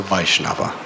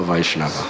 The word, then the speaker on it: Vaishnava: are envious of a Vaishnav say it say it loud the a at the beginning should be I'm hearing surah so please emphasize the first syllable according to sri my